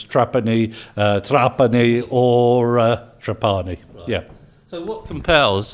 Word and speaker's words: Trapani: tell us their pronunciation the correct pronunciation is trapani we're actually from Sicily originally and most people call me trapani but I really don't